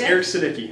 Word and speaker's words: Aric Sudicki: Hey, it's Toni Ross for 103.1 Fresh FM, joined by Aric Sudicki. I said it right? Yes, Kinda? It's Aric Sudicki.